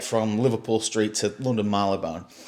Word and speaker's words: Marylebone: Yep, and just for any Americans that would like to listen to this, it's definitely not pronounced Marylebone. Yeah. It's definitely pronounced Marylebone, right?